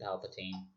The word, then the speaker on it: Palpatine: I don't mind the whole Palpatine angle, or Palpatine, however you want to fucking pronounce it. I always pronounced it Palpatine. I'm pretty sure the canon says it's Palpatine. I don't give a fuck. Yes, it is Palpatine.